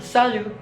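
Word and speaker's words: salut: adalah saldo-saldo tanya disini tidak dibaca ya jadi bacanya cuma salju nah selalu disini memiliki arti Halo akan tetapi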